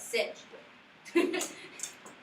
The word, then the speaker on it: Sedgwick: It's spelled like Hedgewick, but Sedgwick.